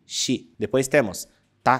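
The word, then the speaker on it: し: xi s c s repare que não tem o som de si e sim de xi Depois temos ta t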